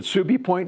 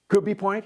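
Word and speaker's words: Cubi Point: Um, we had Liberty at uh, is it Subie Point Naval Air Station? Was that right? Am I pronouncing that right? In the Philippines. In the Philippines. QB point.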